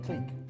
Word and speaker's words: clique: Clique. I thought it was click, fam. Yeah, it's pronounced clique, but it's...